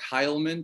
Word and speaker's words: Heylmun: We got Heilman.